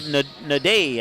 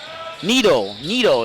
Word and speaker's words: Nido: That is Daniel Nade, I believe is how you say it. Nido, excuse me. Daniel Nido.